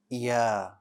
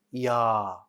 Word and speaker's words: ي: yeah yeah very good letter yeah is light so make sure that the back of your tongue stays flat when you pronounce this letter don't make it bold don't say ya right keep the back